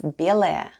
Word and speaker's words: белая: The first sound is B, then goes Е, L, A, and Ya at the end. And all together it's белая.